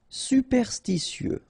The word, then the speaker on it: superstitieux: Superstitieux, okay, so final X not pronounced.